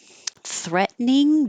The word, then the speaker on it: threatening: what I did here threatening du this T changes to a d because it's between two voiced sounds threatening and the uh